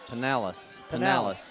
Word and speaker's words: Penales: Penales, I'm not sure. I don't want to say it wrong. Penales is how Coach told me.